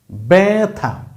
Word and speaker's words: ব্যথা: এ তার মানে এ কারণে এর উচ্চারণ কিন্তু ভ্যা ভ্যাথা ব্যথা ব্যবসা এটা ত্যাগ ত্যা ত্যা গ কি হইছে